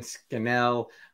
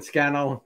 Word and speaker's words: Scannell: thank you to susan skinnell i i'm trying to pronounce it correct she said scandal like flannel susan scannell gilbert for joining me